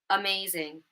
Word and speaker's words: amazing: The second word, amazing. It's in the first syllable.